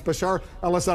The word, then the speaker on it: Bashar al-Assad: charge Bashar al-assad I you've mispronounced his name a few times uh but uh it's Bashar alad I know the uh